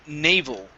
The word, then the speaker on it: naval: This word here is pronounced naval.